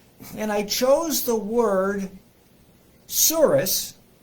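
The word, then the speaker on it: tsuris: know the definition of the word spelled t-s-u-r-i-s and pronounced soros if you are jewish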